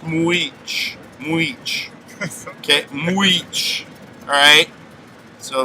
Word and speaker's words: Mujich: His name looks like it should be pronounced Mujich. Alright? And it's pronounced Mujich.